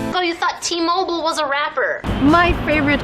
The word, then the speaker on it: T-Mobile: either at t or t mobile so remember it's in american it's t-mobile because americans don't say mobile they say mobile so the company's name